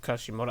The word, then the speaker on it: Kishimoto: Director Mario Kishimoto, aha!